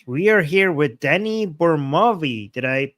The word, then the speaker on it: Burmawi: We are here with Danny Burmawi. Did I pronounce it correctly?